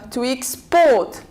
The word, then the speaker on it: export: say to X port to export if it is a verb we stress on the second syllable the same thing for